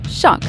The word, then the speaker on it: xoc: XOC, pronounced shock, could include many aquatic toothy animals.